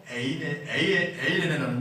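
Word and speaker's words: εἰρήνη: 여기서 화평이라는 단어는 헬라어로 에이레네라는 뜻입니다. 에이레네는 말입니다. 뭐라고요? 에이레네. 네, 따라합시다. 에이레네. 제가 발음이 안 되네요.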